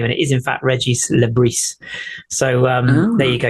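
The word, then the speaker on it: Régis Le: so many people have been asking the correct pronunciation of his name and it is in fact Reggie Le so um there you go you can show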